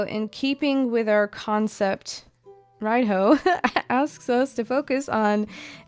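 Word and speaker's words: Raidho: Radio, pronounced ride-ho.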